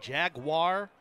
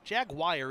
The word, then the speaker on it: Jaguar: Some people say Jaguar or Jagwire. Jagwire isn't really right.